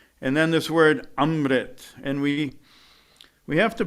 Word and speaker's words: Amrit: ah sound which means you have to vibrate it up in the nasal conch and these Shepherds work